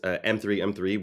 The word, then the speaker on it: M3M3: So they are working in partnership with a token called M3M3, which is just pronounced meme.